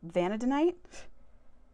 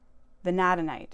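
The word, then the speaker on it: vanadinite: This is vanadonite. Venadanite. That's how you pronounce it.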